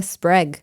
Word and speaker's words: Sprague: first we have hannah sprague rhymes with egg thank you hannah we